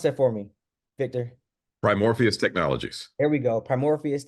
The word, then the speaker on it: Primoris: the founder of um primor um I'm sorry pronounce that for me Victor primoris Technologies there we go primoris Technologies y'all he